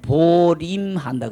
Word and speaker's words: 보임: 그래서 옛 어른들이 우리나라에서는 보림한다 그러죠. 보임한다 그러죠. 발음은 보림이라 그러지만은 그 자리를 보존해서 지닌다. 그래서 보임한다. 글자는 보임이라고 해놓고 이걸 보림이다 부르죠.